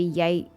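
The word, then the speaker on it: Yae: gonna point out that if her name was pronounced yai it would be yay y-a-i that's yai that's clearly yay how they're pronouncing that name i am unable to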